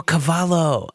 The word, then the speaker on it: Cavallo: yeah rob cavallo yeah oh cavallo yeah that is that is how he pronounces his name um sorry rob if